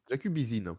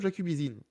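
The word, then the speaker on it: Jakubyszyn: jacubisin vous savez quiine jacubisine pardon on on va parler de Christophe jacubizine jeen reprends puisque avec la bonne la bonne prononciation il a été nommé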